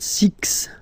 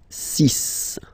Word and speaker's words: six: Okay, so it's not six, it's six.